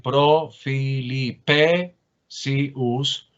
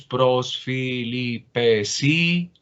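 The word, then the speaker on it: πρὸς Φιλιππησίους: regla del acento yo no podría decir profilipesius, por acuérdense de aquel tema del trisilabismo, que el acento puede estar en la penúltima sílaba a condición de que la última sea breve, y como no es breve, entonces tengo que moverme hacia la siguiente sílaba. Entonces, por eso es pros filipesius.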